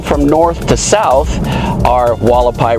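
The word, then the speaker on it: Hualapai: This is Walapai. It is pronounced like that is an Indian name. It starts with an H even though it's called Walapai.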